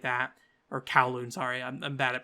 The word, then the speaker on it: Kowloon: Or Kowloon, sorry. I'm bad at pronouncing that properly. I always say a Kowloon kind of thing when it should be Kowloon. It's spelled K-A or K-O-W though.